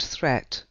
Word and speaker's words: threat: Watch out for meat and great and threat, they rhyme with sweet and straight and debt.